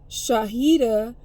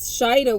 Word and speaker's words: Shahida: Shahida, because Shida wasn't in there, but it was Shahida, right? And I was trying to pronounce it because I was like, Shahida, but Shahida, right?